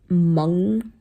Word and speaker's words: Meng: But it's my middle name is Meng, spelled M-E-N-G. So that's how you pronounce it.